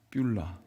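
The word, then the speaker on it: 쁄라: 자, 여러분 발음을 잘 해야 돼요. 삐울라.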